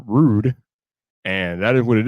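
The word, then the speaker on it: RØDE: going to be pronounced rude and that is what it is so that is why it is pronounced rude and not road because of that slash and the o right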